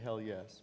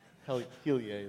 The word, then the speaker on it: Heliae: Some people say hell yes, but Heliae is the proper pronunciation.